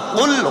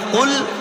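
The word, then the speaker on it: قُلْ: কোরআন শরীফ বলছে কুল হু আল্লাহু আহাদ, না, বড় কাফ লাম, কুল হু আল্লাহু আহাদ। আরবিতে বড় কাফ লাম মানে কুল, আর ছোট কাফ লাম কুল মানে হচ্ছে খাওয়া।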